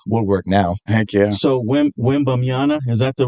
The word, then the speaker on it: Wembanyama: So Wembanyama, is that the right name? I'm not pronouncing it on.